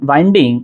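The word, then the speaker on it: wind: अच्छा जब वाइंड पढ़ता हूं तो इसकी प्रोनंसिएशन आप गौर कीजिए। वाइंड बन रहा है और इसकी अगर मैं तीन शक्लें आपसे कहूं कि वर्ब की तीन शक्लें क्या होगी?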